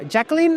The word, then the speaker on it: Jaclyn: So the amiga Jaclyn, am I pronouncing well?